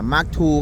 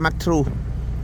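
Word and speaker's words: Mark II: มา ชม เจ้า SK045 Mark 2 กัน หน่อย Mark 2 นะ ครับ ไม่ ใช่ Mark True Mark True ผม จะ ออก เสียง ว่า Mark True อัน จริง ๆ ชื่อ ว่า Mark 2 นะ ครับ คัน นี้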